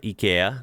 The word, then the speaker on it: IKEA: Now, of course, there's a famous store from Europe, uh, in particular Sweden, and that, of course, is a famous IKEA or IA depending on how you say it.